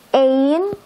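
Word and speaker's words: één: gitu ya Atau punya Ain karena ada dua tanda ini di atasnya jadi kita bacanya Ain artinya satu Han tangan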